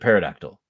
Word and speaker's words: pterodactyl: The P is silent.